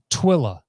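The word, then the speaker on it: Tooele: got subbed out oh jake says it's pronounced twilla so how in the world you get twilla from t-o-o-e-l-e i have no idea but twila utah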